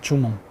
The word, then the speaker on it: 주몽: 주몽, 고주몽.